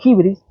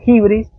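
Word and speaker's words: hybris: griego que es el de hibris, H-Y-B-R-I-S, se pronuncia hibris.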